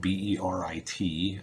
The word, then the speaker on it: berit: itself or its name in hebrew uh which is spelled b-e-r-i-t it's also spelled a couple other ways of